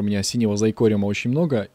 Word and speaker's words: XyCraft: Читается он именно так, а не как некоторые читают его XY, XY, WhoCraft, как только его не читают. Правильно читается XyCraft, и именно так называет свой мод Sovereign, который является автором мода XyCraft.